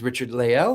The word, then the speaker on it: Richard-Lael: Uh, so my first name is Richard Leel.